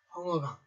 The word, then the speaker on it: 황허강: 그래서 한자라 보면 황하지만 중국 발음으로는 황허라고 하자를 허자로 읽는 글씨이기 때문에 여러분들은 황하 문명 또는 황허강 이렇게 하셔도 상관이 없겠습니다.